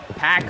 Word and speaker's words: Pac: He mispronounced his name. Sorry nerds. It's pack.